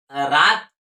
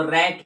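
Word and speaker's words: rat: जैसे एग्जांपल लीजिए, जैसे हम बोलेंगे आर ए टी, तो यहाँ पर रात थोड़े पढ़ेंगे, इसको रैट पढ़ेंगे। क्या पढ़ेंगे? रैट, रैट।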